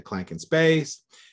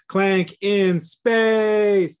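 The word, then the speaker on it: Clank! In! Space!: learned and applied to clankin's base although you did say it wrong it's Clank in space like that so yeah you know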